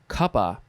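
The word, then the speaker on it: cuppa: a cup of tea it is short for kappa t that's two words which is a pronunciation spelling of cup of tea so it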